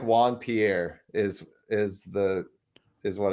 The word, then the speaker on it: Juan Pierre: Keep in mind, it's a rap song, so the last name is going to rhyme with snare.